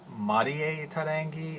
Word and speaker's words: Mariterangi: I'll just briefly say her name is Marita Rangi or they may pronounce it ma da da anggee in Tahiti I don't know my first